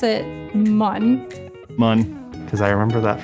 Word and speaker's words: Mun: I pronounce it Mun.